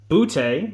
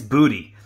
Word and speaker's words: Boutte: I said Boutte the first time. I think it's Booty. It might be Booty. I'll have to go back and look. I think the announcer said Booty, which is a great name for kids.